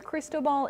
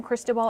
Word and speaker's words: Cristobal: thing with the pronunciation it's crease as in your pants toe as long your foot and then ball is and what you play sports with so crease more Annunciation